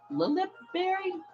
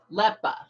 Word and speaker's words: Leppa Berry: Center or use a Lilipberry? How do you pronounce that? Leppa. My bad. Leppa berry. Wasn't even close.